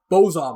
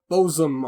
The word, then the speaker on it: bosom: but like i mean it's not even pronounced bozom right it's like like oh bosom or something it you don't pronounce